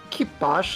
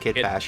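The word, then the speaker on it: kitbash: First, a true classic, the beautiful scrap punk kit bos known as the Millennium Falcon. That's pronounced that's pronounced kit bash.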